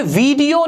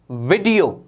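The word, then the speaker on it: video: करोगे, तो ये होगा वीडियो, वीडियो, वीडियो। बड़ी ई की मात्रा नहीं होती है, खींच के नहीं पढ़ा जाता। वीडियो गलत होता है, सही होगा वीडियो।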